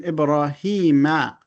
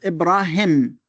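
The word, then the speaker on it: إبراهيم: This is a ya. A ya, which means there is a ya you have to pronounce here, although it is not written. So it is not Ibrahim. It is not Ibrahim. It is Ibrahim. So we pronounce it Ibrahim.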